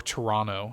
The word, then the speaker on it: Toronto: So Push is a new one, and they are going to be introducing a new Toronto map for it. Or Toronto, if you're Canadian. You don't pronounce that second T.